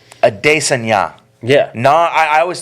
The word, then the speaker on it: Adesanya: It's Adesanya. Yeah. I always thought it was Adesanya, not Adesanya, but it's Adesanya.